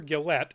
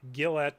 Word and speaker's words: Gillett: hyphenated last name Tyler Gillette and I'm pronouncing it Gillette not Gillette because there's no e at the end uh but I could